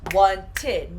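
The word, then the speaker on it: wanted: for this group will i add one more syllable so once and now it's one tin now it's two parts so this gives you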